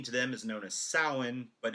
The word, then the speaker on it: Samhain: Um, if you're familiar with like ancient Celtic folklore, Halloween to them is known as Samhain, but it's pronounced or it's spelled Samhain, Samhain, but it's pronounced Samhain.